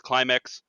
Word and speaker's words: Klimeks: His name's Climax, but it's spelled Klimeks or something like that.